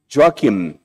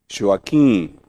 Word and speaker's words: Joaquim: i called him and they called him me joakim joakim because he could not pronounce joaquin as we do in portuguese the first period of